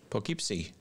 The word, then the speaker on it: Poughkeepsie: David Potter in, I can't pronounce that, Poughkeepsie, New York? Poughkeepsie.